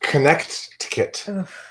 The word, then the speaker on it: Connecticut: It's pronounced Connecticut.